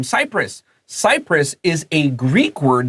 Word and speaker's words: Cyprus: There's an island called Cyprus. It's spelled differently, but it's the same pronunciation.